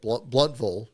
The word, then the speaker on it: Blountville: Part two was definitely some tough sledding there for sure to cover the story of what happened in Blountville, or again, Bluntville, the proper pronunciation.